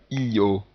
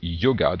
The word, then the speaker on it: yoga: de séparer complètement, parce qu'on ne dit pas io. On dit yoga, donc on a ce son qui se prononce ye, mais qui peut se retrouver par